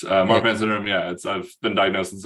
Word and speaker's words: Marfan: Am I pronouncing that correctly? Yeah, you were correct. Marfan syndrome, I've been diagnosed since I was 11 years old.